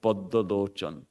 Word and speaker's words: Padmalochan: But of course, Bengalis would pronounce that something like Poddolochan.